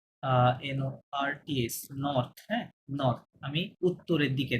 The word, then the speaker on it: nord: নর্থ, সুদ, নর্থ, হ্যাঁ, এটা ডি সাইলেন্ট, এটা সুদ, এখানে ডি